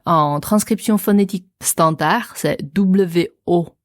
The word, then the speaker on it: 我: La prononciation, c'est wo. Wo. D'après toi, Florence, c'est quel ton? Alors, ça descend un peu et ça remonte pas mal. Donc, c'est du 3e ton.